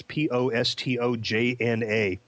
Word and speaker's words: Postojna: I think that's pronounced correctly. It's Postojna.